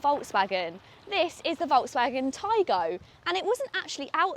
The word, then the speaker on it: Taigo: This is the Taigo, pronounced Taigo.